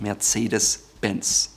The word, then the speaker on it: Mercedes-Benz: Yes, it has a hyphen, and although the name Mercedes is Spanish, in German it is called Mercedes-Benz. So how did the German car company come up with this name?